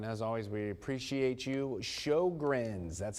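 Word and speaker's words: Sjögren's: Sjogren's, that's how you pronounce that name down there on the lower part of the screen.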